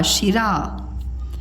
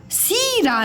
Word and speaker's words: शिरा: यह है अब देखिए आपको लिखना है शिरा श और रा शिरा मतलब टॉप का शिरा सीरा नहीं होता है सी रा नहीं होता है सिरा नहीं होता है ठीक है शिरा अब ये है